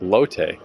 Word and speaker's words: Lotte: ride to the subway called it Lot Tower. But then I saw somewhere on YouTube or whatever that it's pronounced Lotte.